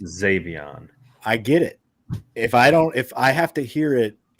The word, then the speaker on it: Xavion: I said Zion. It's pronounced Xavion.